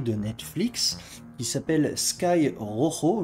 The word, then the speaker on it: Rojo: On va commencer par une série cette semaine, donc une série de Netflix qui s'appelle Sky Rojo, je sais jamais le prononcer correctement, faut savoir rouler les R, mais c'est pas mon cas, bref, le ciel rouge, on va dire ça.